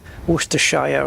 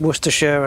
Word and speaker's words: Worcestershire: But we have got Worcestershire, which the sh you guys pronounce as Shire, don't you? Shire, Worcestershire and Bedfordshire. Where for us it's just Worcestershire and Bedfordshire.